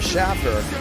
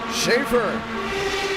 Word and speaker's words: Schaefer: Sometimes you may hear myself or even a co-commentator call Schaefer Schaffer, and that's because at the National Fairgrounds Speedway, there is a Schaffer that is spelled that exact way.